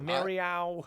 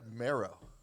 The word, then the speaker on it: Merrow: really cool venue like the venue people were pronouncing it differently right m-e-r-r-o-w mario i feel like maro i i guess so right because that's what i'm at yeah the marrow the ma row how does why is